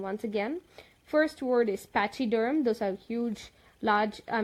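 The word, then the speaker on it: pachyderm: with example let us let's look into the pronunciation once again first word is patchy derm those are huge large I mean lots thick-skinned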